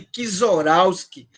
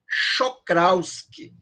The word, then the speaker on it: Czochralski: Tem até um cara que o pessoal chama de Kizorowski, que, na verdade, a pronúncia é Czochralski, né?